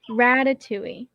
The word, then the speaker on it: Ratatouille: So the movie for tonight is Ratatouille. I'm sorry, is that right? Yeah, Ratatouille. Ratatouille. Ratatouille. Okay, they were pronouncing it.